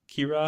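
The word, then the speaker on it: Qi'ra: Kira.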